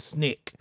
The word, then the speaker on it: SNCC: Committee uh Snick SNCC they cause they pronounce it Snick student non-violent uh coordination